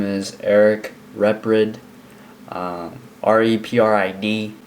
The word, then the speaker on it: Reprid: So, hello, my name is Eric Reprid. R-E-P-R-I-D. Not Reprid, not Reprid, not retard, Reprid. This is exactly how it's spelled.